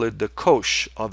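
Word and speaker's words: cosh: So mathematicians when they have to refer to this function will call it the kosh of x. And kosh somehow rhymes with something like posh.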